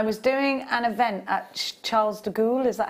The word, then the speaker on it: Charles de Gaulle: in france i was doing an event at charles de gaulle is that how you say it yeah there's